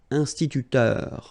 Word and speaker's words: instituteur: So liaison here, and then remember this EU, it goes like heure with the R, instituteur. Then un bibliothécaire. Bibliothé, remember in French the H doesn't exist, so you don't pronounce it.